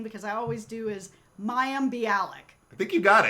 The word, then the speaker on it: Mayim: tried all these different things, and so has Mayim. I'm saying it wrong now. Mayim, though? Yeah, Mayim.